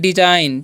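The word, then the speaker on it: design: इसे पढ़ते हैं डिजाइन, ठीक है। क्या पढ़ते हैं, डिजाइन पढ़ते हैं। यहाँ पर जो जी साइलेंट है, ठीक है, डिजाइन पढ़ेंगे इसे, ओके।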